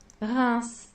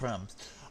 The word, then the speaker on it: Reims: I'm going to go to Google Translate and find out how it thinks the French say this track name, because it does seem to be a contentious thing about how you say it. Translate... R-E... Reims. Reims? Reims. That doesn't sound... I've always heard it as Reims.